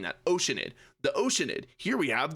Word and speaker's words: Oceanid: that I'm saying that oceanid the oceanid here we have the oceanid you don't add two letters and get two full syllables out of it I don't know why it's pronounced that way anyways it's made of